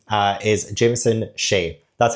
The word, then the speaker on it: Jameson Sheay: And also, the author's name uh is Jameson Sheay. That's how you pronounce it.